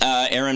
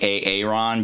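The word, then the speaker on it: Aeron: Aaron. It's spelled A-E-R-O-N, so please don't call me A-A-Ron, because A-A-Ron is supposed to be anonymous, and also A-A-R-O-N should be Aardvark. Aaron, not Aaron.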